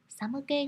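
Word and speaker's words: 寒気: Samuke ga suru. Lưu ý chữ khí ở đây mình đọc là ke nhé, chứ không đọc là ki đâu ạ.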